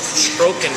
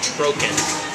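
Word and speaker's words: trocken: be drier than the Germans Germany does make troken wines dry wines are called troken t r o c k e n troken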